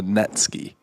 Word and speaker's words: netsuke: There is a decorative piece of ivory that holds kimono belts together called a netsuke. It's spelled Netsuke.